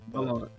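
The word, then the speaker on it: Valant: Valent.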